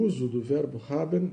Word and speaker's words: haben: Haben haben Verb hilfs haben hilf haben fou bem claro né aqui a pr e o e não é pronunciado.